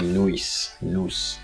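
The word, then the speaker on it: nós: brazilian portuguese for we we have nos they actually pronounce it something like nuis we also have agency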